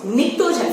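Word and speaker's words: pnictogen: निक्टोजन family P silent रहेगा, that's why we will pronounce निक्टोजन family.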